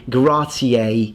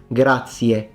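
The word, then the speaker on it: grazie: So in English, if I had to speak Italian with an English accent, I would say gracier. Italian is gratier. Radio becomes radio. A o e. No one says gratier. There is no a. It's e. Gratier.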